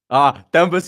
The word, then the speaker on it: Themba: It's not pronounced with an H.